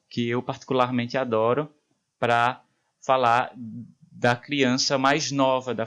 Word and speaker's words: falar: Por exemplo, o verbo falar acaba sendo pronunciado falar.